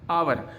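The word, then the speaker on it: hour: एन आवर, अब यहाँ पे देखिए आपको बता दूँ ये जो एच है वो साइलेंट होता है और यहाँ पे इसको हावर न बोलकर उसको आवर बोलते हैं, ठीक है, आवर बोलते हैं।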